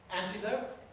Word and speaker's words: antelope: Antelope? No. Clear L because it's before a vowel.